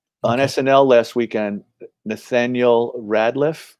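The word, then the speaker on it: Rateliff: snl last weekend nathaniel radliff is that he pronounced his name he's chat room let me know yeah i think it's rad it's not right yes because our vic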